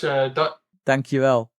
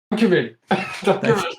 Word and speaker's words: dankjewel: Dankjewel. Dankjewel.